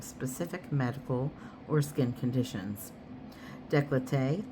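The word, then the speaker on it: décolleté: Decollete also referred to as decolatto. You have to say it like that too. You know it's a French word pertaining to a woman's lower neck and chest.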